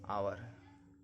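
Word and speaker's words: hour: Next क्या, एच कब silent होता है, कोई भी वर्ड हो जिसमें एच के बाद वॉवेल्स हो। एच के बाद देखिए वॉवेल्स है, एच को नहीं पढ़ना। Honest, आवर।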